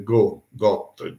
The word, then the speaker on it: Got: Clemente V si chiamava Bertrand de Got, G-O-T. La consonante in francese finale non si pronuncia.